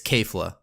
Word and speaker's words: Kefla: to talk about is we have an official pronunciation of the name now so that'll end the debate and we know now that it's kefla moving on from that I